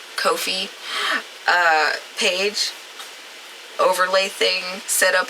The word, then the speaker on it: Ko-fi: I said I was going to start pronouncing that right. Ko-fi page overlay thing set up over there, so that'll pop up during stream.